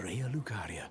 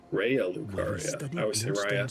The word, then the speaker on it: Raya Lucaria: That's the Academy of Raal Lucaria. Rya Lucaria sorceries. But again, that's why we're practicing our proper pronunciation.